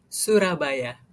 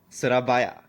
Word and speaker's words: Surabaya: chipra at sur at surabaya Indonesia. Is it is it sura Indonesia? Suraba Indonesia. Uh yes. How do you how do you suraya? Surabaya from Surabaya Indonesia.